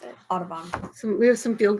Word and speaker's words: Audubon: Forgot how to pronounce it. Audubon.